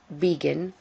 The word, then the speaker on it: begin: And the stress is on the last syllable. It's begin, not begin, begin.